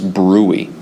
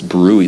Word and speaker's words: bruit: And if you hear that, that's something known as bruit. Okay, I believe it's B-R-U-I. Bruit. I believe it's spelled brutes.